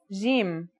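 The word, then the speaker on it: جيم: our first letter is Jim this one is easy to pronounce it's somewhere between a g and a j depending on the accent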